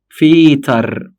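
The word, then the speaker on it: Väter: بقت دي فيتر. خلي بالك من فرق النطق. دير فاتر دي فيتر، دير فاتر دي فيتر، في فاتر فيتر.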